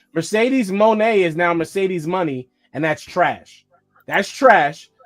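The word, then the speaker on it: Moné: name on TV nope so they just added a y to what mon they pronounced it money now they just say Mercedes money nope I didn't hear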